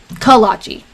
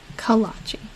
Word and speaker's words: kolache: area of South Dakota you pronounce it kolachi sorry kolache okay so it's yeah